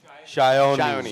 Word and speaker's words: Sayani: Let's just hear the right, correct pronunciation from you. Sayani.